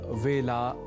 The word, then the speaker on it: वेला: यहां वेला के ए अक्षर के उच्चारण में तो सामान्य रूप से अशुद्धि कम ही परिलक्षित होती है। पर हमने आपको बताया ही था कि कई बार हम में से कई व को ब के रूप में समझने की भूल कर जाते हैं और व को ब के रूप में लिख और बोल जाते हैं।